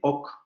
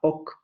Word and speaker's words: oc: ok para decir sí entonces por eso le llamaron lenguas de wii y lenguas de ok porque en el norte la palabra si se pronuncia bagüí y en el sur la palabra así se pronunciaba ok es lo que viene